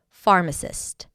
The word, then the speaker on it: pharmacist: All right, the 10th word for today is pharmacist. A pharmacist is a health care professional trained to prepare and dispense medications. Pharmist. Pharmacist. The stress is on the first syllable.